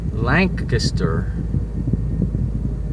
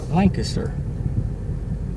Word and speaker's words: Lancaster: The A is pronounced like an E.